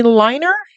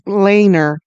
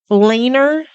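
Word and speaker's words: Leiner: And it was directed by Danny Liner. Is that L E I N E R? I I Googled it and it's Laner. Laner.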